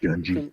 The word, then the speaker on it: Gungy: like the way you think, Gungy. Crimson Minotaur. Gungy. Is it Gungy? Is it Jungy? Gungy? Gungy. Think grunge, but gungy.